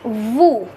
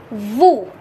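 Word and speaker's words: vous: with o u s it becomes vu and the meaning is you the pronunciation is vu in french and the meaning is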